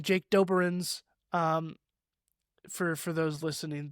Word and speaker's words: Doberenz: My last name Doberins. That's a doozy. It's spelled D O B E R E N Z.